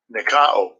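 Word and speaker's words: νικάω: All right, so the word conquer in the Greek, bear with me, it's Nikeo, if I'm pronouncing that right. See if we can play this. Strong's G 3528. Nikao.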